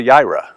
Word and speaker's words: Jireh: Now I guess it's Yahweh Yireh, right? Because we don't pronounce the J.